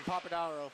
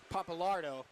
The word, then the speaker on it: Papalardo: Good positioning there from Papadaro. Sorry, I mispronounced that horrifically. Papalardo. My apologies.